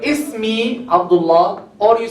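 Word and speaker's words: اسمي: Ismi. Huh? You see Hamzat Wasl? We pronounce it Ismi, right? Ismi.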